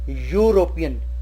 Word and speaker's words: European: For example, here it is starting with e but the pronunciation is European. Pronunciation is u.